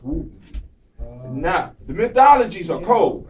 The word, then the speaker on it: Woden: But it's actually pronounced Woden.